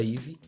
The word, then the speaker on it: YVY: Acho que para facilitar a vida de todo mundo, né, IVE se escreve YVY, né?